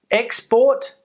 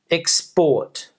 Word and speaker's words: export: verb decrease decrease decrease export export export export escort escort escort escort so we can hear the difference the noun we're stressing the first syllable on the verb we're stressing the second syllable two syllable words so